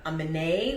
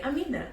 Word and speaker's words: Amina: read my name amina you may say amina amina amine like all kinds of different things but when someone asks me how do you say your name i say amina and they say oh